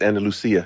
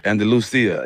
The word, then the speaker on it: Andalusia: It's Andalusia. Andalusia.